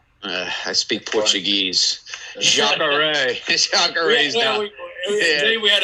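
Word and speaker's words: Jacaré: Fighting, I'm going to get his first name wrong, Jakari Souza. 26. Jacare.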